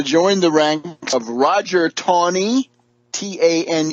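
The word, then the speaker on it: Taney: is going to join the ranks of Roger Tony TN e y but pronounced Tony of Tony Town Maryland up the road Dread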